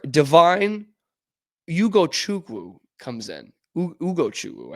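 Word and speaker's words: Ugochukwu: Ugo Chuku, I think is actually how you say it, from the University of Miami.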